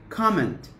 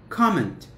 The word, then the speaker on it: comment: or comment it's a comment comment the stress is on c okay so it's a